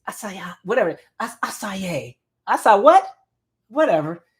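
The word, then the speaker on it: açaí: It's ACAI. I say it wrong every time. Acai or whatever. I thought it was a kai.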